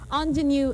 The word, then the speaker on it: ingenue: as engine on genuine it's not spelled the way you hear me pronounce it okay ingenue is spelled i-n-g e